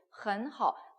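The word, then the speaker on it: 很好: 그래서 我很好 그러면 이제 很好 헌과 허가 삼성 붙였으니까 제가 계속 이성으로 읽는 겁니다.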